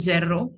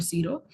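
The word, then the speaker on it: zéro: Now this is 1 to 20, and zero is the same as in English zero, but if you see there is a e and then there is an accent attached on top, so it becomes zero, not zero.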